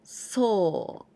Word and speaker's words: 送: This kanji means to send, and we pronounce 送, で送ります, or so.